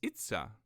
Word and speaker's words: Itza: It's really easy because you just pretend like you're Mario. You just say, "It's a me," but just without the me. And then it's Itza.